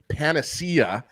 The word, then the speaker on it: panacea: He's not going to be the panacea. Good job pronouncing it properly, Ezzy.